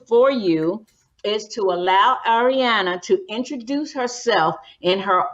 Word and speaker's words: Arianna: the time and uh our guest today is ariana did i pronounce that correctly yes ariana yep ariana fox and arianna fox as i